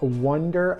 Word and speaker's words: Oneder: This week we got a very cool pedal from a very cool company called Wonder Effects spelled like Oners.